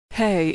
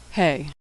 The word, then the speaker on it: Hey: Hey is pronounced like the H in hello. Like H in English, it's silent at the end of words. Hey.